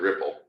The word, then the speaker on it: Replit: It was originally made by Czechoslovakians, where the E is pronounced different. So it's the people that created it pronounce it Ripple, because that's what REPL spells in Czechoslovakia.